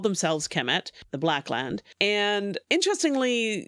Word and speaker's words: Kemet: into the problem that we do not know how to pronounce Egyptian because we don't have any vowels, but KMT. Right. So it's usually supplemented to as Kemet. Right. Kemet. The vowels are disputed and whatever, but Kemet, whatever, however